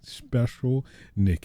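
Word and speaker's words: Shpeshal Nick: special oh i see special nick it's spelled like a s-h-p-e-s s-a-l special that's kind of cool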